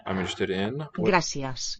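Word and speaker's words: gràcies: How I'm interested in Gracias. what is the quality of the a, which is accented, the letter is, and the e in the second syllable. Gracias. Sounds like gracias. Very low sounding e.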